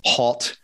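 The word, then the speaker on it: Haut: non uh the non-french speakers out there it's pronounced hot in in bordeaux yeah so yeah is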